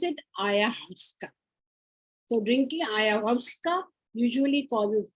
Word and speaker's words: ayahuasca: Drinking, how do we pronounce it? Ayahuasca.